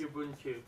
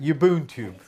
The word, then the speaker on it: Ubuntu: Pronounce it for me, please. Ubuntu. That's it. Ubuntu.